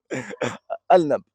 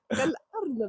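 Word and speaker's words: الأرنب: Al-Nab, c'est comme ça? Comment on dit? Al-Nab. Hein? Al-Nab. Al-Nab. Bon, je sais que le L et le R, il est bizarre. Moi, je parle comme lui. Al-Arnab.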